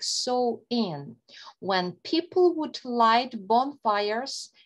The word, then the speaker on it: Samhain: The pronunciation is like Samhain, when people would light bonfires and wear costumes to ward off ghosts.